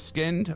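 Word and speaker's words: Skynd: out of that sound uh never heard of skinned uh don't know if we'll react to them but um so SK y n d but they're pronounced skinned okay so yeah oh Kayla says apparently Noah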